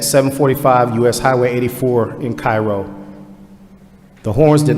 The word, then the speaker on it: Cairo: And only in the state of Georgia could we pronounce Cairo as Cairo. Cairo.